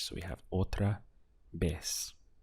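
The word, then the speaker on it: otra vez: also the pronunciation on the V once again sounds like a B in Spanish so we have otra B how would you say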